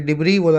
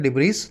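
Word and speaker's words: debris: पीछे एस लगा हुआ है लेकिन इस एस को प्रोनाउंस नहीं करते हैं, ये डिब्री बोला जाता है, डिब्रीज नहीं बोला जाता।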